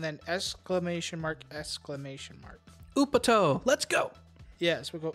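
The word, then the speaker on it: Upotte!!: t e and then exclamation mark exclamation mark upper toe let's go yes we'll go up toe oop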